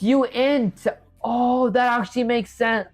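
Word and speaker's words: uint: You're still pronouncing it wrong. It's not unit. It's Oh, it's you int.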